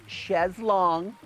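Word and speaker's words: chaise longue: I have tons of these ches long that's how they say it so I did it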